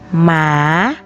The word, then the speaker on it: หมา: อย่าง อยาก นะ คะ แบบ ที่ สอง คำ ที่ มี หอ นำ ไม่ ออก เสียง ตัว หอ เช่น หญ้า หญ้า หนู หมา หมา แบบ ที่ 3 นะ